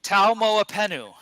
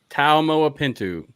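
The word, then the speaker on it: Taumoepenu: correctly for me please T MOA penu T MOA pentu is that correct no T at the end T MOA penu penu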